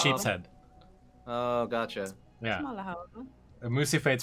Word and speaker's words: smalahove: Alhava? Smalahove. Smalahove. That's the Smalahove. sheep's head. Oh, gotcha. Yeah. Smalahove.